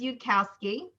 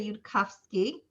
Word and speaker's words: Yudkowsky: So my name is Yudkowsky. In Hebrew, we say Yudkowsky. but in English you say Yudkowsky. It's one of those names that's sort of pronounced differently in Hebrew and English.